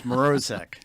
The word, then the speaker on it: Mrozek: But it's Mrozek. Mrozek. Okay, I did pronounce it wrong, and I've been practicing.